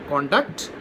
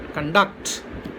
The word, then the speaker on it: conduct: So the accent changes to the second syllable when it is used as verb. So noun, conduct, verb, conduct.